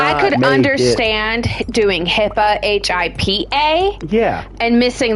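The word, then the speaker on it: HIPAA: actually called health information uh-huh portability authorization act Hippa yeah how would you spell that abbreviation hi i p a a correct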